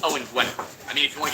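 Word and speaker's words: Owain Gwynedd: And yes, I was giving you the way he pronounced it because I'm trying to make a point. It's Owen Gwynedd.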